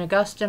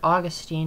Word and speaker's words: Augustine: Augustine, or Augustine, however you want to pronounce it.